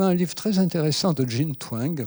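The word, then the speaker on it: Jean Twenge: livre très intéressant de jein Tang prononce comme ça jein Tang est américaine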